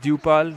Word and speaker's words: Dupal: you saying my name it's dupal not depaul oh okay say my